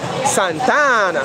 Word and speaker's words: Santa Ana: here in santa ana that's how you say it right yeah you don't say santa and you say santana like that boy it's hot out